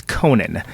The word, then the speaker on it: Conan: it because, of course, my name is Conan, and it's pronounced like the fella with the talk show.